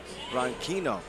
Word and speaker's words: Branquinho: Branquinho. Emphasis on the last 2 letters of his last name.